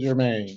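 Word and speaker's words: Jermine: yeah she said spelled your mind but I pronounce it Jermaine okay right all right sir all right Mr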